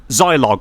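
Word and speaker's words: Zilog: exactly how to say it is is it Zog Zog I thought that it was Zog is it say that Zog so z i l o g I didn't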